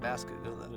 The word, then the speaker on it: Pascagoula: Pascagoula, the bustling burg of Pascagoula.